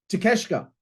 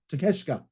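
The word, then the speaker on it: Takeshita: why do I cut why can't I ever remember how to say his surname takashka takeshka there we go uh Ortiz AR box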